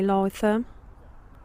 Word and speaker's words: Lytham St Annes: And we're in Lytham St Anne's. That's how you pronounce it. Could be Lytham.